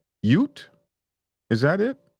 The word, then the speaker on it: ute: Um, Somebody said oot is pronounced Yoot. Ute? Is that it? Ute?